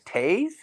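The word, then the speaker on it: Toews: Wait, it's Taze? But isn't Taze. it T-O-W-E-S? Yep. How do you get Taze? It's Canadian pronunciation.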